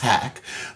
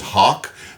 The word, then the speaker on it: Haak: It is pronounced Haak. I've seen other people who saw it and thought it was Hawk, but it's Haak Wines, and you can easily find the website.